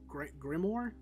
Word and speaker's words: grimoire: There is the how do you pronounce this? Grimoire.